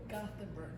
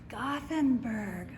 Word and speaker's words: Gothenburg: we are in Gothenburg I would say Gutenberg Nebraska but it's spelled Gothenburg so I don't know